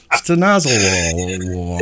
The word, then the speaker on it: Stanozolol: That's how you pronounce it? Stanozolol.